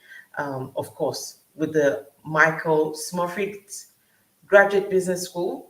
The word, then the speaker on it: Smurfit: University College Dublin, of course, with the Michael Smurfit Graduate Business School, right? Did I pronounce Yeah, that correctly?